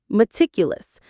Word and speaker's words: meticulous: Meticulous. Let's pronounce it. Ma-tic-u-lus. Ma-tic-u-lus. The stress is on the second syllable, meticulous.